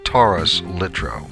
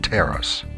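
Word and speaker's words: Taurus-Littrow: expertise on that subject the term is pronounced Taurus lro not teras and no I don't think it makes any difference at all whether the person is British or American po 1 is Landing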